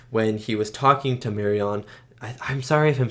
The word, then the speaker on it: Marion: he was talking to marion i'm sorry if i'm saying her name wrong i feel like it's mary it's not marianne though it's mary it's spelt m-a-r-i-o-n so marion when she was talking